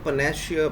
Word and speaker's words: panacea: ये वर्ड है पनेसिया, spelling PANACEA. इसको पनेसिया बोलेंगे.